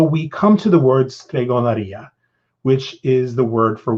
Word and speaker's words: stregoneria: You'll hear me say stregoneria, which is the Spanish pronunciation of the word.